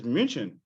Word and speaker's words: München: it's like Munich. Munich isn't. That's not how you say it in German. It's München.